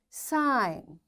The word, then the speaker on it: sign: G is silent when it comes before N. Its examples are design. Now, after G, N is there, so we don't pronounce this G. This is silent. Foreign, sign, align, resign, assign, rain, clone, and campaign. In all these words, because after G we find N is there, that's why we don't pronounce this G and we directly switch to N and we say design.